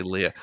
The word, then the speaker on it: Leia: 40 freaking years and i say leah um well 3po says it at one point too so i think he pronounces it that way that's why exactly thank